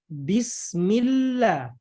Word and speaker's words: Bismillah: Lam jalalah tarqiq adalah lam pada lafaz Allah yang cara bacanya tipis.